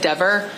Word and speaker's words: Dever: So he said my name correctly. He said Dever.